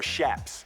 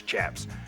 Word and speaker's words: chaps: The chaps, you know, or shaps. Shaps is actually how it's properly pronounced, but everybody says chaps.